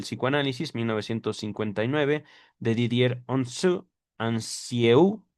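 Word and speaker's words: Anzieu: Mencionemos asimismo el documental El autoanálisis de Freud y el descubrimiento de del psicoanálisis 1959 de Didier Onu Ansieu, lo estoy latinizando, no se pronuncia así en francés, quien en las páginas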